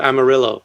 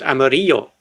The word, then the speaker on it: amarillo: And in Spanish that means yellow, and in Spanish they would pronounce it amarillo. Right. But in Argentina they say amarillo. Okay. Okay. right? And that's just something you got to get used to, man.